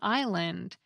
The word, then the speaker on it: island: Crystal writes that this tinkering also resulted in the silent S in island, because the reformers were sure that this word came from the Latin word for island, insula.